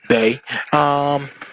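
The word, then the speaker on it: Bea: I'm not gonna I'm not gonna waste your time on this, but if you so B is pronounced B, Bay. B is the fighting type gym leader, and you only get to fight her if you are playing Pokemon Sword.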